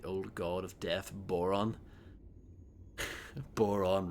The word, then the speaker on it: Boron: Boron rhymes with moron.